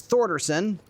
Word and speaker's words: Thersonen: My last name also gets mispronounced. It's Thersonen, and it's Icelandic. And it gets pron mispronounced all the time.